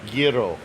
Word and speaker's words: gyro: That Greek sandwich that people mispronounce. That's lamb meat. Gyro.